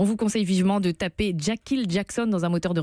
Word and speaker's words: Jakhil: photo aussi, on vous conseille vivement de taper Jackil Jackson dans un moteur de recherche sur internet. Jackil, ça s'écrit J-A-K-H